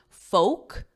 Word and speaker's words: folk: should know the pronunciation it's the same pronunciation as the vowel in oak oak tree or joke whatever word you know the pronunciation of you can use that as an anchor word folk no L silent L and this is the